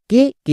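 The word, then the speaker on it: cake: Next কে, কে এর জন্য কো, এবং শেষের ই সাইলেন্ট, তাহলে কি হলো সি এ কে ই, কেক।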